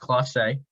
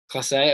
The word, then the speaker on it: Clase: I will say, I'm fairly certain it's pronounced Clase. Clase, okay.